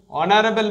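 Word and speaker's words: honorable: অ্যান বসবে, যেহেতু vowel সাউন্ডের মতো প্রোনাউন্সিয়েশন হচ্ছে। এটাও hour, an hour, vowel sound. Next অনারেবল ম্যান, অ্যান অনারেবল ম্যান।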